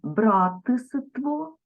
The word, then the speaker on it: братство: вимовимо Братський Братський далі Братство запишемо але вимовимо братство далі тут варто запам'ятати винятки